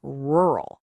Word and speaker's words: rural: different challenge, the word rural. Oh man, the problem here isn't the number of syllables. It's that gnarly combination of the R and L sounds squished together.